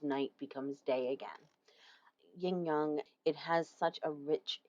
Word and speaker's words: yang: The way it's pronounced rhymes with tongue.